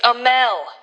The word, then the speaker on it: Amell: It's Amell.